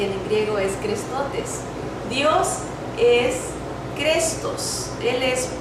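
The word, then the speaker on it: χρηστότης: benignidad, sino que está una palabra que se pronuncia crestotes, así se dice en griego benignidad, o lo tradujeron en español como benignidad y en griego es crestotes.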